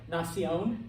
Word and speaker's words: nación: Nación, nation, accent on the O.